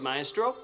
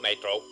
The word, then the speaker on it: Maestro: could see your android, Maestro. Well, yes. What you say you will do, you must do. MRO, hear the way that he pronounced your name. He called you MRO.